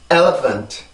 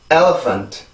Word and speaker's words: elephant: elephant. 자, 그래서 이 단어는 이렇게 발음이 돼요. 절대로 엘리펀트나 엘러펀트 이런 게 아니고 영어의 리듬에 맞춰서 강세가 어디 있는지를 보고 여기 뒤에 있는 부분을 이용해서 발음을 해주시면 되는데 여기서 중요한 건 지금